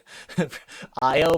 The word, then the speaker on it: Io: Io, pronounce I-O.